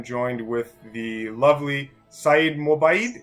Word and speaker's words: Mobayed: with the lovely saeed mobile am i pronouncing your name right mobile mobile okay that's it perfect spoken like a true